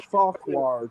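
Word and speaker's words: Fauquier: It's Farquhar County. Okay, let me go back. Okay, what county? Farquhar. How do you spell that?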